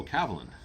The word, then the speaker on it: Kavalan: this C Cav Cav kavalan cuz it's like spelled Ka a and then VA and Lan and I'm like oh cavalin and they're like oh that's how you pronounce it I said yeah